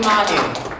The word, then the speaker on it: Manu: It's supposed to be Manu. I have to get used to that. I know, it's fine. All right, okay. You have, you know, I know. grandfathered in. I pronounce it the Pittsburgh way.